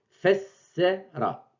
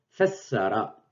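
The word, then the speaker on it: فسّر: Donc, fessera. Fessara. Je double C. Sans la shed, j'aurais lu fessara. Fessera, ça n'a pas de sens. Ça n'existe pas. Fessera. C'est plutôt fessera.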